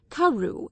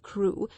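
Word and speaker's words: Crewe: difference in the name madame pascal pronounced it as if it were karu instead of crew but that might merely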